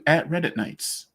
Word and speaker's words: RedditKnights: go ahead over to @Reddit Nights. That's the @ symbol REDDITKNIGHTS. And yes, before you ask, the K is silent for Silent Nights.